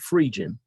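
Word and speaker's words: Phrygian: frigin cap frigin cap i used to call it virgin cap my brother corrected me and let me know i was pronouncing it wrong but free jin you know it stands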